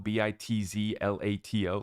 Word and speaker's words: Bitzlato: Bitslotto. Is that how you spell it? Bitslotto, Bitzlato, like gelato?